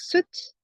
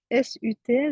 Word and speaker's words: Sat: Donc Sat, et on le prononce Sut, S-U-T, donc Sut, et Nam, on relâche le ventre.